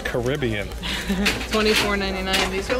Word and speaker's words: Caribbean: You got me saying it wrong. It's Caribbean.